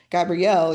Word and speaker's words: Gabriel: And I shared a story about mine about my middle name, which is conventionally pronounced Gabrielle, even though it's spelled Gabriel, Gabriel.